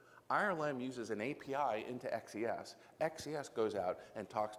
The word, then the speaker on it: XES: Now, there are people who pronounce that as a word, right, says, and when I work with my friendly customers in Brazil, their X has a different value, so they pronounce it Shez. But I never pronounce it that way. I always say XES, because every now and then I'm dyslexic.